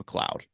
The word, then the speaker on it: McLeod: It's McLeod. Oh, did they misspell it? I don't know. Oh, that's how you spell McLeod? Yeah, that's how he pronounced it.